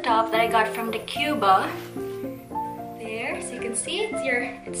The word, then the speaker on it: Decjuba: I've actually researched how to pronounce that because I'm not sure how to pronounce that one. Yeah, but it's Decjuba.